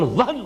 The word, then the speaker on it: وہن: note کر لیجئے، وہن، ویسے یہ کہ تلفظ میں وہم جو ہے میم کے ساتھ، یہ چونکہ ہمارے ہاں عام طور پر لفظ استعمال ہوتا ہے، آپ کو مغالطہ نہ ہو، یہ نون کے ساتھ ہے وہن، اور وہن ہی سے